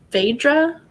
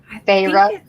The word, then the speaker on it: Feyre: And is it Phaedra? Feyre. Feyre. Sorry, no D.